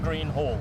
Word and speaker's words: Greenhall: It's pronounced H-A-L-L, Greenhall. Greenhall.